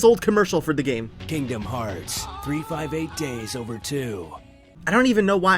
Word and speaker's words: Kingdom Hearts 358/2 Days: to talk about this the official pronunciation is Kingdom Hearts 358 days over two I don't know why it is but it is just listen to this